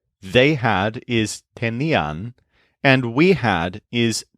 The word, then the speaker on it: tenían: First of all, the imperfect forms all stress the syllable ni. So, I had is tenía. He, she, it, or usted had is also tenía. You had is tenías. They had is tenían, and we had is teníamos.